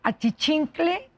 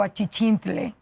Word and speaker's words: achichincle: achichincle o achichintle. Hm. Por ejemplo. Sí. ¿Cómo se dice? Huacal con g o huacal con h. Y entonces automáticamente la academia le va a decir, "Se dice de ambas maneras."